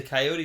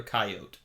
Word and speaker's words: coyote: Yeah, you can say coyote or coyote. I say both.